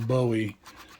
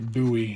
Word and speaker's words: Bowie: And he's also got a beautiful Bowie, or Bowie, however you want to pronounce it, that knife.